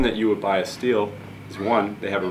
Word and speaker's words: Stihl: but the reason that you would buy a steel is one they have a rich history steel gets its name from its founder andreas steele is actually how you how the germans pronounce it he's a german man he is